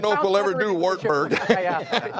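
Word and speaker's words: Wartburg: if we'll ever do wartberg it sounds better in English if you pronounce it V there go hey Campbell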